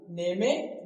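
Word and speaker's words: name: के लास्ट में सबसे लास्ट में अगर इ लिखा है तो लिखना है लेकिन बोलना है इ को नहीं ठीक जैसे इसको नेम में नहीं बोलना है। ने में नहीं बोलना है। इसे क्या बोलना है?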